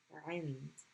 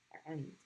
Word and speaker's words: عند: So the word is عند. عين, nun, dal. عند. So the ayn is being pronounced with kasra. Stop on the nun at the top of the mouth and then end with dal.